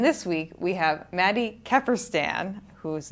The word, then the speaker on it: Kefferstan: And this week we have Maddie Keerstan, whose name I think I pronounced correctly.